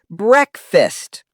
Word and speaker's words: breakfast: Wrong is breakfast. Correct is breakfast. Example, I never skip breakfast. The a sound vanishes. Breakfast, not breakfast.